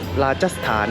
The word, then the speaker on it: Rajasthan: ở phía nam của Rajasthan hoặc Rachasthan cách người Thái phát âm thành phố đó là khá Đó